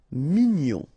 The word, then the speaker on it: mignon: Here in that case, G-N-O-N, gnon. Mignon.